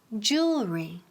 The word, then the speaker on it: jewelry: Jewelry, jewelry. Dilo conmigo, jewelry. Es la J inglesa, como Jennifer.